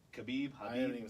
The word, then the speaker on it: Khabib: Remember, we were saying his name wrong, and people kept writing the comments on Habib? Facebook. You're saying this wrong. Khabib, I haven't Habib.